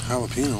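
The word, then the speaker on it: jalapeño: where bubbles went there jalapeno what flavor is that ricky j silent you're saying the j's like an h ricky jalapeno not jalapeno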